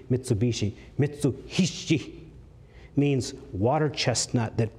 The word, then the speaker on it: Mitsubishi: Japanese mitsu means three hii in the Japanese when they merge together they pronounce that H is a b Mitsubishi mitsui means water chestnut